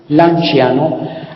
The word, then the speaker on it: Lanciano: Lanciano la sed se pronuncia como chen suave.